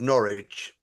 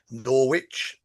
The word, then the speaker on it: Norwich: So, I live in a place called Norwich. But if you looked at the word Norwich, n o r w i c h, it was originally pronounced Norwitch.